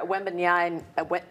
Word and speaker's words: Wembanyama: And we had another one of Victor Wembanyama. I always pronounce it wrong.